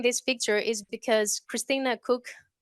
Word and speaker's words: Koch: But the reason I'm sharing this picture is because Christina Cook, it's spelled Koch.